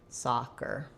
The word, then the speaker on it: soccer: thinking it as a nice open ah, like in father, soccer. And then I still have my tight sound, but it's just short and reduced. The IPA for soccer, you'll see it as first syllable stress, soccer.